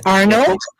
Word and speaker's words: Arneaud: can see wonderful I hope I got the pronunciation of your last correct right it's Arnold yes ma'am that was correct great great now